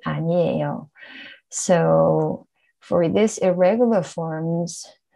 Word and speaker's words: 아니에요: 아니다 plus 어요, 아니어요. It's not correct. We say 아니에요.